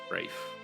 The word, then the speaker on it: Braith: Uh, two levels down from here is House Braith. You you've heard the name before, but for the for pronunciation, wreath uh we've been using